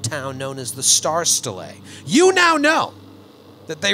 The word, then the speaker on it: Stela: I wrote it in a way that I would pronounce it. You wrote it phonetically? S-T-E-E-L-A.